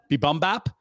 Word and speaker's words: Bibimbap: Bibimbap, the Korean dish.